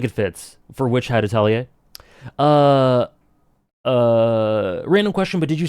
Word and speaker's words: Atelier: I love the way you pronounce Atelier.